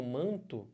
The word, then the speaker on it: manto: O que é som quando eu falo manto Vê se não isso aqui é a transcrição fonética manto Vejam Só que que aconteceu esse n aqui não tem um som próprio